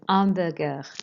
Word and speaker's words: hamburgers: Les hamburgers, remembering not to pronounce the H.